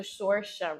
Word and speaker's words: Sorsha: Then the next one that I liked was the Sorsha reveal. What? I can't pronounce that girl name.